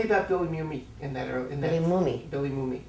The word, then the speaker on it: Mooney: Billy Mooney. Did I say it wrong? Billy Mooney. It's Mooney.